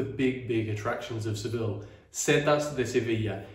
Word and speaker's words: Setas de Sevilla: So we have arrived at one of the main attractions in Seville, which is the Seville Arrows. Is that how you say it, Seville Arrows? Setas de Sevilla.